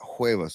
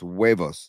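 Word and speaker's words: huevos: The H is silent in hueos. No, we not hueos. It's wavos.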